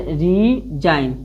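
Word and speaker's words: resign: इसे रीजाइन यानी रीजाइन यानी जी को साइलेंट रखना होता है।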